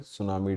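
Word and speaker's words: tsunami: 5 नवंबर को world सुनामी यहां पर टीजर कंफ्यूज मत होना टीम साइलेंट है वर्ल्ड सुनामी डे और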